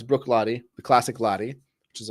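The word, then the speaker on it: Bruichladdich: got is uh Brook lat which is not pronounced as it spelled Brook L not Brook L uh it's Brook LTI the classic LTI which is a scotch from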